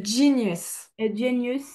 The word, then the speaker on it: genius: Genous genius. Genius. Alors, tu vois ici le e, il va se prononcer i.